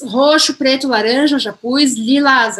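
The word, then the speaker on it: lilas: Lilás, aí a gente falaria lilá. Lilá. De novo, não vou falar esse S aqui ao final, mas o resto eu pronuncio normal, lilá, tá bom?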